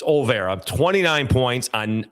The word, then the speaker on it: Olvera: In this ball game, Jackson Olvera, and it is Olvera. People like to put an extra syllable in there, an extra vowel. It's Olvera, 29 points on 9 of 16 shooting.